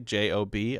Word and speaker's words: Job: J-O-B. I pronounced that Job, like the book of Job.